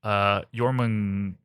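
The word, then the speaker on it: Jörmungandr: Because Apophis is a giant snake, not unlike Jormungandr. Love it. From Norse mythology. Yes. How did you pronounce his name?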